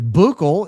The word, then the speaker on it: buccal: Buccal is referenced several times a day. It's pronounced buckle.